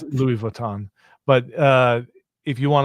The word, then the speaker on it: Louis Vuitton: a Prada bag or a Lewis Vuitton bag, that's how you pronounce it, right? Yeah, I think so. Um, not sure. It's Louis Vuitton, but uh if you